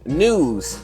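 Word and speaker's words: Knewz: first article comes from news which is spelled like k-n-e-w with a Z news and uh articles headline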